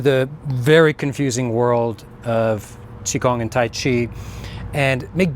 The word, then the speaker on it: qigong: So, chiong, whether it's spelled with a q, q i g o n g or the older spelling chi, k u n g, uh is the sort